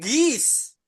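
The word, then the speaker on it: geese: Gis. Gis. Heeh. Dari kata Bugis.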